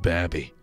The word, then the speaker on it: Babby: So is it pronounced Baby or is it pronounced Babby? With two Bs, it's Babby. Oh, so with one B, it's not Babby?